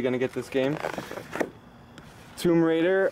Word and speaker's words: Tomb Raider: to get this game Tomb Raider a lot of you freaked out when I said tomb Rider last time so I made sure I said it right Watch Dogs too awesome